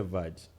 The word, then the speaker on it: verge: If you say that to people who come from like the US or whatever, and you don't pronounce the R in the word, they'll be like, huh? You have to say verge.